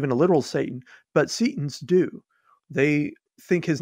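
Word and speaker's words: Setian: temple of set practitioners would be called Seaton's or Satan's with a long e and their religious practice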